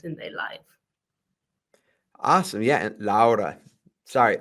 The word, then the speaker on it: Laura: my name is actually I pronounce it laa because I'm Lithuanian originally uh and yeah happy